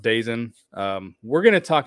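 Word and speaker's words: DAZN: deal whatever was uh I think it's pronounced dazen um we're going to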